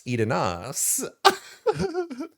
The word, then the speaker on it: Eidenas: So you could spell it, you could sound it out any way you want, but we pronounce it Miss Edenas.